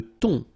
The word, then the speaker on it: thon: Le thon. Remember, H here is not pronounced.